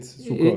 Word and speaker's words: Sukkot: Do you read it Sukkot or Sukkat? Yeah, in my head, you read it the way it's written. So you read it, you pronounce it Sukkot.